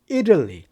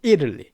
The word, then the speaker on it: Italy: 발음인데 대부분 다 발음은 이탈리가 아니라 Italy. Italy 이렇게 발음합니다. Italy.